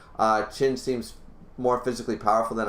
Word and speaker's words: Qin: So it's not common knowledge that the Q is pronounced cha in, okay, so it's China.